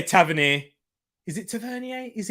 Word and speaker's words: Tavernier: the in swinger from tavernier or taverny is it yeah tavern here that's it tavernier tavernier yeah that's probably why that's probably why i'm saying it wrong actually um oh sharon's